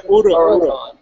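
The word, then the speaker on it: Huracán: You take Huracan. the H out. Well, yeah, Huracan. it's Ura. Huracan.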